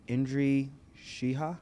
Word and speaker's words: Indri Shehaj: We have Indri Shehaj.